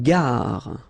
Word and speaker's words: gare: Une gare. Okay, remember when you get these G and A together, the sound is g, ga, ga. Une gare, final E not pronounced.